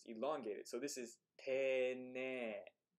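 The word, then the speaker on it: 丁寧: Interestingly, whenever you have a syllable in hiragana that starts with e, and then you tack on an e to it, that e at the end elongates the e sound.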